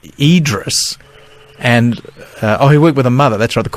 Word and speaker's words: Idriess: Idis and that the name was always pronounced Idris and oh he worked